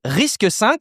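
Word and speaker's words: RISC-V: J'oserais dire d'avenir hein, c'est Risque 5. Ça s'écrit Risque V avec le 5 en chiffre romain. Guillaume, c'est ton chouchou. Risque 5 évidemment.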